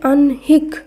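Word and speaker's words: আহ্নিক: আ হয় দন্ত নয় রস্যি ক এই শব্দের উচ্চারণ হবে আনহিক।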